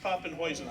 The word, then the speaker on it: Poppenhusen: Okay, Poppenhuisen, or it's pronounced Poppenhuisen, I learned recently.